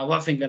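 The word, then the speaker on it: wharfinger: है ऐसे कर फर ये डब् का प्रस नहीं करते साइलेंट रहता है हा वा फिंगर ऐसे करके बोलते आर साइलेंट रहता है वा फिंगर बोलता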